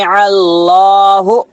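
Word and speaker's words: الله: जर ही लला लला इसमें अल्लाह को मोटा पढ़ना बारीक पढ़ना मोटा पढ़ना कई को अल्लाह से पहले के ऊपर पेश है तो अल्लाह से पहले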